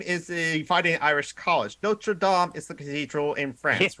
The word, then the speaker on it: Notre Dame: a fighting Irish college Notre Dame is the cathedral in France remember that pronunciation that's the key difference here the other one is pronounced American yeah it's funny because